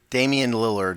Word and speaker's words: Lillard: Damian Lillard is how he pronounces it.